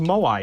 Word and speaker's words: moai: found out about the moai emoji i'm like wow this is like a really useful emoji because it's good at like thank you for the follow interrupting my thoughts it's pronounced moai yes moai the song is not